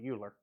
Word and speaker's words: Euler: say it around um the way you pronounce it as close as we get in alabama anyway you say it like oilers looks like it looks